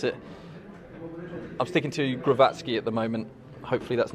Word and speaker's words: Krzysztof Głowacki: pronunciation of lawrence's opponent so from the horse's mouth it is shishtof wavatsky and inga i hope